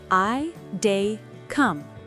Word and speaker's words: I dey come: Pronunciation: I dey come. 3 words flowing together.